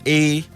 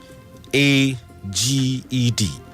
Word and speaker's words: aged: Aged is spelled A-G-E-D. A-G-E-D. Sometimes it is pronounced aged, but here it has to be pronounced aged.